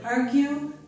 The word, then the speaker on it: argue: And I did give you an exception to this rule with the word argue. With the word argue, we do hear the U sound.